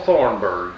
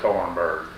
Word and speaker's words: Thornburgh: Thornburgh, Thornburgh. or I sign OR. My name, -H. That H is silent on it.